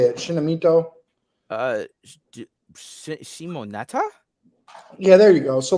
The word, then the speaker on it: Shimoneta: Well, I mean, but you do enjoy some fictions with sexualized kids in it, like that Shinamito. How do you say it? Shinamito. Uh, Shimoneta?